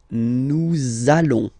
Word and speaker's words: nous allons: link between the words, so it does mean that you will have to pronounce this z sound, okay, listen to me, nous allons, nous allons.